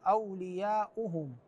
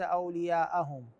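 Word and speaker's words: أولياؤهم: الايه 257 والذين كفروا اولياؤهم الهمزه مضمومه وليس اوليائهم الايه 256 في قوله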